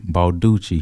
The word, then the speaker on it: Balducci: ladies and gentlemen Ethan balduchi he said like it rhymes like you know how everything's Gucci that's how he said I love it Flor